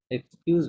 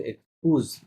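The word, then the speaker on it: excusez: এক্সকিউজ moi, এক্সকিউজ বলে নাই, বলছে এক্সকুজ। কুজ, হ্যাঁ, excuse moi, এক্সকিউজ আপনি ইংরেজিতে বললেন, এটা হচ্ছে এক্সকুজ।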